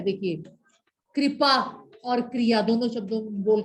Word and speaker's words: क्रिया: Written प्रक्रिया है, बेटे वो री जो है ना, वो री ही प्रोनाउंस करती है। जैसे ये है वर्ड नृप, और वो बोल रही हूं मैं क्रिया, क्रिया, ये री नहीं है, ये र को